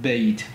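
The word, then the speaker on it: بيت: Et donc, on a ce qu'on appelle le dift tong, c'est-à-dire en français bien la prononciation de deux euh voyelles, le a et le i ensemble. Ça donne a et donc on a le mot bait.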